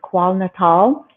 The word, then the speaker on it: KwaZulu-Natal: And I asked him if he would also go to South Africa, to Thula Thula, Zululand, which is in, I think it's pronounced KwaZulu-Natal area.